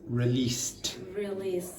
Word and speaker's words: released: Accumulated, and that word is released. Because this finishes in a t, then the ed is id. Because that finishes in an unvoiced consonant, s, you pronounce that like t.